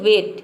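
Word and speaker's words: weight: example देख लेते हैं वेट यहां पे देखिए डब्लू का हो जाएगा व और ई आई जी एच का हो जाएगा ए टी का हो जाएगा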